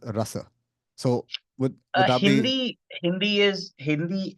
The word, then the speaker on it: rasa: So That is this called rasa. this rasa, just by the way, in Hindi we'll call it ras, but in Sanskrit it will be pronounced as rasa.